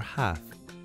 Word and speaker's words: half: Many words in English contain silent letters, like lamb, where the B is silent, or half, where the L is silent.